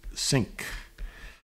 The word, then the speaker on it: sinc: And that's pronounced sinc.